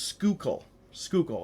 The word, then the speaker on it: Schuylkill: Now, that's a very unorthodox spelling, and however, it is pronounced Schuylkill, and I had to look that up just to make sure that I was pronouncing this right.